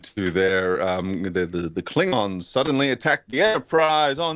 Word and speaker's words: Klingon: there um the the Klingon suddenly attacked the Enterprise oh no big Fleet um and uh Zulu pronounces it klingen and it's just like oh you hadn't figured out the pronunciation yet no you never really